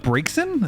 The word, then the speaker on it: Braixen: I thought Braixen? Is that how you pronounce that?